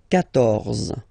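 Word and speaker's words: quatorze: So remember, Q and U here, well, basically you've got to put this U vowel, because that's the rule in French, even if you don't pronounce it, okay? So you will get the sound K here, K, 14, 14, okay?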